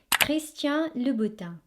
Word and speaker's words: Christian Louboutin: So it's Christian Louboutin.